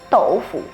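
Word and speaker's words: 豆腐: Tofu is a word with Chinese origins Infact in Chinese tofu is "Doufu" And if you didn't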